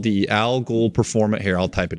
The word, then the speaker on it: al Ghul: It's called the Algol Performance. Here, I'll type it in the chat. Hey, tell me how to spell it, Alex, because I always mess it up. AL space GHUL, like Ra's al Ghul Performance.